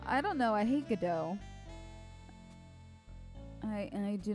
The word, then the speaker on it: Godot: It's Godot, and we gotta wait.